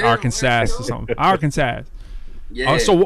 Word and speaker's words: Arkansas: You say Arkansas. All right. I make sure that's how I say it. I don't know if it's like Hawaii. You got some inner like Arkansas or something.